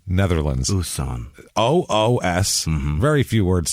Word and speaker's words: Oostzaan: Oostzaan, Netherlands. Oostzaan. OOS. Mm-hmm. Very few words start with double O, first of all. OOSTZAAN.